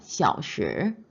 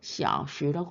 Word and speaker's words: 小时: 小时 보시면은 우측입니다. 네 번째 小时 시아오로 내려가서 시로 올라옵니다.